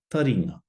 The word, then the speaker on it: taringa: Taringa, taringa.